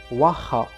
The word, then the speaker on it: waha: And again, the pronunciation of this word needs special attention because it includes a sound that could be very foreign, especially for those with a European language background.